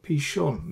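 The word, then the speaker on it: פִּישׁוֹן: foreign I put a h there to so pishon this is shin with a DOT here on the right hand side so pronounce it as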